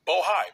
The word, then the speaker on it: Bohai: Sena bohai I want to make sure I pronounce it right bohai b o h a i and the list